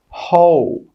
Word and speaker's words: whole: The letter W is also silent in these words, which we talked about a little bit in the last part of this series. Who, whole, answer, sword, to. In all of these words, we're not pronouncing the W, it's silent.